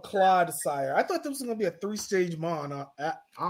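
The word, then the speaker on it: Clodsire: I thought it was Claude Sire. Like Claude, a Claude of Mud.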